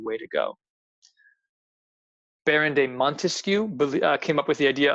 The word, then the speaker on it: Montesquieu: Best way to think of Montesquieu, think of how many syllables are in Montesquieu. Montesquieu, 3 syllables.